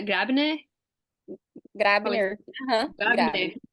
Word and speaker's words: Grabner: Como que pronuncia? Grabner?